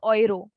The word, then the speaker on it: Euro: 18 is oxane oiro now this is not euro this is oiro in german it's oil owned sexish